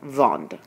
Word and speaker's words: vendent: Notice that you don't pronounce the de with the je vends, tu vends, but you do pronounce it with nous vendons and vous vendez, and il and elle vendent. But you don't pronounce the E and T.